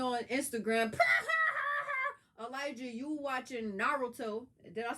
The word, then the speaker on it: Naruto: Elijah, you watching Naruto. Did I say it right? Naruto?